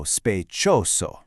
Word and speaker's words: sospechoso: Next up, sospechoso. Let's really hear those S sounds. So, sospechoso.